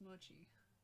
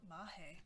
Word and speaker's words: mochi: How to pronounce mochi? Yeah, mochi. Mochi. Who pronounces it mahe? Never heard of that.